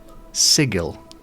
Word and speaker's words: Sigil: the city of doors, the proper noun is pronounced sigil.